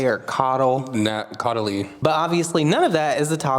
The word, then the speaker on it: Caudalie: He always uses all these things that I can never pronounce, like Caudalie or Caudal. Caudalie.